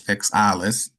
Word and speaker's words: XAILES: But for those that are interested in actually benefiting from the XAILES, which is the actual proper pronunciation, which is XAILES, um, from this XFERME XAILES platform, then I